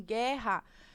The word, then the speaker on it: guerra: Em guerra, nós temos também o GU, no entanto, formando um único som, que é esse som de G, né? Então, também como se esse U ele não fosse pronunciável.